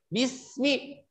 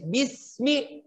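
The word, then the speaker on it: بسم: Huruf sin harus dibaca dengan sempurna. Jadi bunyinya bismi. Betul-betul membacanya dengan tipis. Bismi.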